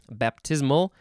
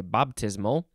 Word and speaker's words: baptismal: sanctified initiated or named baptismal is a an adjective especially southern let's see baptismal bop i guess in more southern they'd say baptismal uh that's what they that's what the pronunciation guide tells me and baptismally is an